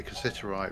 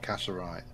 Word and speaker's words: cassiterite: I used to say cassiterite wrong. I said it wrong for the longest time. Throughout every series of Terra Firmacraft, I kept on calling it cassiterite.